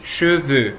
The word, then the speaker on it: cheveux: E no plural, des cheveux, mesma coisa. Então, cheveux tanto pode ser no singular quanto no plural na pronúncia.